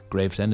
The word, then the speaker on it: Gravesend: One is I mispronounced the town Gravesend. I read it like it was some town in Scandinavia, but no, Gravesend is in good old Kent, England.